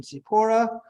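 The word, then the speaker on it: צִפּוֹרָה: on the Sadi and Sephora because that goes on there uh Hebrew pronunciation sipora who is that wife of Moses meaning bird um Gematria 375.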